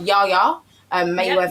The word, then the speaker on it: Yaya Mayweather: But Yaya Mayweather's.